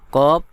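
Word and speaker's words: ق: ফা সিন কফ ইয়া নুন কফ শক্ত করে উচ্চারণ করতে হবে।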